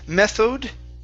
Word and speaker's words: method: Okay, right here instead of method, okay, this is an sound, so we're going to use the schwa.